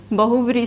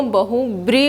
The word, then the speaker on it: बहुव्रीहि: ठीक है, इसके बाद हमारा समास आता है बहुव्रीहि समास। कौन सा समास होता है, बहुव्रीहि समास। बेटा ये बहुव्रीहि होता है। ठीक है, आप लोग उच्चारण में भी गलती करते हो, बहुव्रीहि बोलते हो, नहीं, बहुव्रीहि समास।